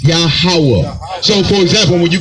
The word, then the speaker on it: Yahweh: It's better pronounced Yahweh.